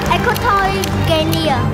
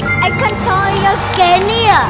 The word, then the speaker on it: Equatorial Guinea: Equatorial Guinea... Huh!... I didn't say that right. Equatorial Guinea!